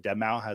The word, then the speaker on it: Deadmau5: mask on, like Daft Punk or was it Deadmau5? Is that how you say it, Deadmau5?